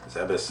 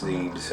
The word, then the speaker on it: Zebes: The galaxy is at I first battled the Metroids on planet Zeus, Zebus Zebes, however you guys prefer to pronounce it.